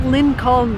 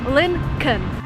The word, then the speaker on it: Lincoln: attention to what i'm saying here it's not lincoln the way it's written there is an l before n when you actually pronounce it you say lincoln the second thing about this car it's